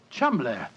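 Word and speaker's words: Cholmondeley: Being an American, he had no reason to know that the name Chumli is in no way pronounced the way it is spelled. Oh, Joe, I never thought of that. Chum, that name spelled C H O L.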